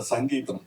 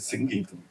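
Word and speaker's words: Singeetham: In Tamil Nadu, he used to get very upset because they Mr. Sangeetham. No, it is SingGeetham, please.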